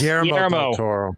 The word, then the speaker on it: Guillermo del Toro: During a discussion with Guillermo del Toro, did I say it right? Yes, Guillermo del Toro.